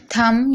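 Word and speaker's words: thumb: थंब यहां पर भी आप देख रहे हैं एम के बाद बी है तो बी साइलेंट है।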